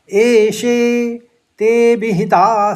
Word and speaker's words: एते: पहले चरण में तीन शब्द है एे ते विहिता और सांख्य इसमें कोई आघात नहीं है लेकिन एक अवग्रह है तो ते को ज्यादा खींचेंगे तो उच्चारण इस तरह से होगा एे ए सॉरी एते